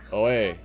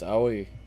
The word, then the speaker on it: Aoi: Oh no, it's Oe. Is that her name? I forgot. Is that how it's pronounced? Aoi. Aoi. It's Aoi.